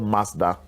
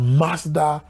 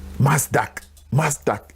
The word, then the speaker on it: Mazda: He was arguing that Mazda, the pronunciation has a K in it.